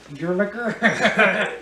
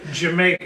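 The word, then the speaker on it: D'yer Mak'er: the only one what you call it your your maker Jamaica Jamaica okay that's right pronounce it I have this at seven you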